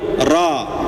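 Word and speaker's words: ر: Ya, huruf ro itu tidak boleh manyun ya.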